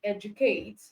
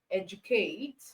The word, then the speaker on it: educate: But for the J sound, even though it's still letter D, you can have word like educate, gradual. All right, you can have words like educate and gradual.